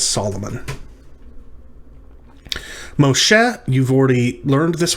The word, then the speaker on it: Solomon: this one is and you just will not know this one unless you know that shalomo comes through in our english translations as solomon moshe you've already learned